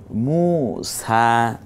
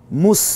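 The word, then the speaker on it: موسى: এটা কোরআনেরই আয়াত ইছা মুসা হ্যাঁ মুস বলবো না মুসা এই জবরটা সহ এক আলিফ টেনে বলবো ইউলা তগ এই শব্দগুলো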